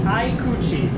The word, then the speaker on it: Aikuchi: the name of it so I can actually pronounce it right because my Japanese is horrid. It is an Aikuchi, A-I-K-U-C-H-I, 13.1 inches, which this could match it,